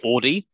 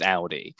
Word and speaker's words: Audi: the car brand Audi, some people will say Audi, which is not actually the correct pronunciation. It's Audi. And so a lot of the time it was about getting that ow sound, the AU, the ow.